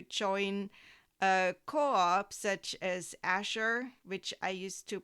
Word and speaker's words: Azure: Another option is to join a co-op such as Asher, which I used to pronounce Azure.